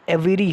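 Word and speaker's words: aviary: ठीक दोस्तों, तो जो एवियरी है, एवायरी, चाहे आप उसको एवायरी बोल दो, एवेरी बोल दो, ठीक दोस्तों, क्योंकि एग्ज़ाम में प्रोनाउंसिएशन का कोई हमें दिक्कत ही नहीं है।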